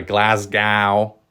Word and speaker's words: Glasgow: you got Glasgow there I think Americans say Glasgow I'm gonna get a glass gal there you go Glasgow